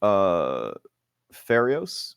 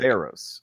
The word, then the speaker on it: Pharos: And then you, Pharios, am I pronouncing it right? Oh, it's Pharaohs. So like Pharos. Okay.